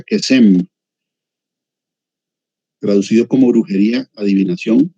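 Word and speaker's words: קסם: el cursor ahí, pero es la H7081, se pronuncia Kesem, traducido como brujería, adivinación y también falso profeta.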